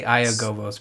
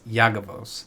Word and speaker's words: Iyagovos: I always say Iyagovos, but it's Iyagovos. The I is silent, people.